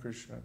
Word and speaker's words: Krishna: h h h Krishna in Krishna both syllables are short because there's no long vowels the r in is short and the a Inna is short so K there by